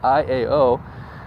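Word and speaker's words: ʻĪao: I-A-O is Iao.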